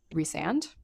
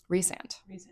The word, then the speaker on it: Rhysand: graphic audio they say Rhysand. What are we saying? Rhysand. What are they saying? Rhysand. Rhysand. The emphasis is on the wrong Man. syllable.